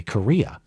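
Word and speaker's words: Correia: Pronounced just like the country Korea. Okay. Larry Correa.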